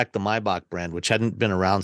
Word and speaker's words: Maybach: it my wait wait why is it mybach and not Maybach that's the German pronunciation of it is it we're saying